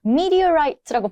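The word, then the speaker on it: meteorite: 습득을 해 주셔야 됩니다 미디어 라이트라고 발음이 되는데 어 med resch 아는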